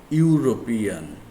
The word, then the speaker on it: European: with we must use a sounds like u starts with you for example european city we will use a european city we use we also